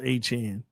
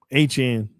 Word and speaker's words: Achane: His name is pronounced A-Chain. Okay. A-Chain.